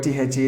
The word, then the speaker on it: the: Because the pronunciation of the word DHEE is completely dependent upon the beginning of the next word.